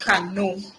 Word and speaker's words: Kano: So it says here it is pronounced Kano.